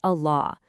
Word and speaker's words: Allah: For example, in the name of God, Allah, that lam is always, always pronounced, and it has this really special, heavy sound.